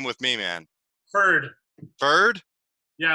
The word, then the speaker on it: Feurd: name with me man bird bird yeah I'm like it rhymes with turd how long have you